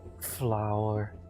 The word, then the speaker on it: flour: Although it's spelled flour, Flour, not flour. That's the wrong type of flour.